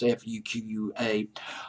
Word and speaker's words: Fuqua: I'm hoping I'm pronouncing his name correctly. It's Fuqua.